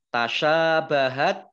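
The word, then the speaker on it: تشابهت: Tasyabahat shin fathah alif mat tobi'i panjang 2 harokat. Nah, kemudian ini tak sukun, ya, tak sukun itu membacanya agak diberi es sedikit gitu ya. Tasyabahat, tapi sedikit saja esnya, nanti tidak pilek kalau banyakkan.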